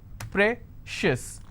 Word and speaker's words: precious: Precious. How many syllables again? Precious. I will stress on pre.